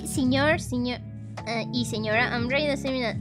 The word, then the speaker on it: y: But when you are using it on its own, it's E.